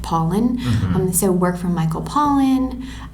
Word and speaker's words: Pollan: And that, along with other work from like Michael Pollan, I think his name is, you say it looks like Pollan, but he pronounces it Pauline.